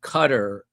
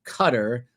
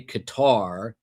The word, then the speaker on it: Qatar: In the United States, you're supposed to say cutter. Some say Qatar. Uh but the real correct pronunciation from what I'm told is cutter, like a Coast Guard cutter.